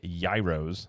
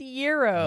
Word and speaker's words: gyros: I think I said is it yros no how do you say it it's euros Euros whatever I say Gyros cuz I'm from the Midwest it is it is definitely a Euro well anyways you can